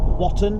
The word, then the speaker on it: Watton: There you go, Watton, I should say. Pronounce the T.